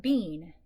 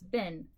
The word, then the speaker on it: been: Okay, normally when we see two E's together, we pronounce it E, like in feet. But this is not bean. Okay, this is bin.